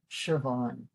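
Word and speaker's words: Siobhán: But because the S is followed by an I, that gives us the sh, Siobhan.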